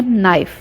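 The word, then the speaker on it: knife: र ओ कि चोरी के इंग्लिश नाइट के साइलेंट है तो एंड से भिड़ेंगे नाइफ और जब इसका पाउडर फॉर्म करना होगा वक्त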